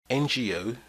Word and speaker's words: NGO: but have vowel sounds an NGO ngo is pronounced to an e sound NGO so we use n